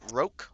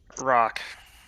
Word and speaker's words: Rock: Lanzu, Lucan, Muse, Osmin, do you pronounce it Roke or Rock? Rock.